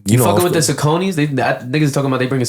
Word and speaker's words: Saucony: They saying that it's Sauconys. Oh, that's how you pronounce it?